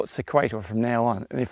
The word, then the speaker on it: Sequator: let me know that sequator is pronounced the same way as equator with an s on the front so I'm going to call it sequator from now on and